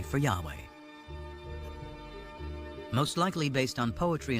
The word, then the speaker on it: Yahweh: knew God by his intimate personal name convention pronounced Yahweh passages with the name Yahweh which in German